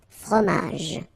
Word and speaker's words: fromage: Okay, in that case, you don't insist on the final j. Fromage. Un fromage.